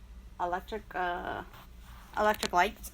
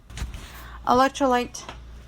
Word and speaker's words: electrolyte: Okay, so rehydrate is an electric light or something like that. Electrolyte, that's how you pronounce it.